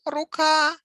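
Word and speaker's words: рука: same word in plur in singular has stress on last syllable ruka ruka in this single it has one hand one at naruka stress is in the last syllable if we change it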